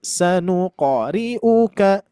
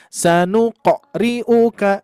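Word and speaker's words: سنقرئك: Terus berikutnya tadi di huruf qof juga sama ya jangan sampai memanjangkan pengucapan qo ya. Sanuqoriu sanuqoriu ah itu ya. Tapi sekilas aja sanuqoriuka. Sanuqoriuka. Terus yang sering terjadi juga memberikan hamzah, sentuhan hamzah di sini. Jadi sanuq riuka.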